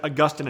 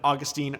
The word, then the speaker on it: Augustine: are both acceptable pronunciations, much as Augustine and Augustine are both acceptable pronunciations.